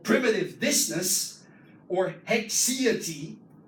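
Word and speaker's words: haecceity: called primitive distness, or hexiety. Hexiety, that's how you pronounce it.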